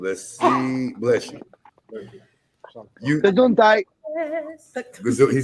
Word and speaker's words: Gesundheit: You Gesundheit. he said Gesundheit. Oh, You gotta say it like a German. Gesundheit.